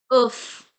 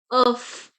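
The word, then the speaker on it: œuf: If the word is ending with F, for example, we have oof. We pronounce it oof. So here we are pronouncing the last letter F.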